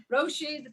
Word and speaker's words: Roisin: And in case you can't pronounce her name, it's Roisin Bennet, all the way from Ireland.